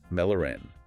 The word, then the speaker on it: Mälaren: It connects the Baltic Sea, the saltwater, with Lake Mälaren. That's pronounced M-E-8-Laren, freshwater.